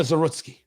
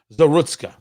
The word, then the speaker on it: Zarutska: The problem is not uh that arena Zerutski. I'm sorry. I I didn't want to pronounce her her name wrong. Zerutska. Arena Zerutska.